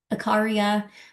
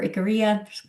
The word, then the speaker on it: Icaria: Rica, Sardinia in Italy, Icaria or Icaria, depending on how you want to pronounce it, in Greece, and then Okinawa in Japan.